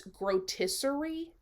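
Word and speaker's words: Grotesquerie: He's announced a new horror series starring Niecy Nash called, I believe it's Grotisserie, is how we are supposed to pronounce it.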